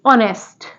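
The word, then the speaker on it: honest: पढ़ते हैं ऐसे ही नेक्स्ट वर्ड है ऑनेस्ट यहां पर जो एच है वो साइलेंट है और इसको हम क्या पढ़ेंगे ऑनेस्ट ओके नेक्स्ट वर्ड है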